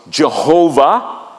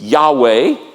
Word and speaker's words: Yahweh: the the scribes so we don't know how to say it for a long time we thought it was Jehovah now we believe it's Yahweh it is a name